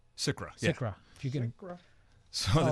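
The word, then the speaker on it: SCRA: All right, one question I do have, if you could touch on, and correct me if I'm saying it wrong, is it SICRA? SICRA.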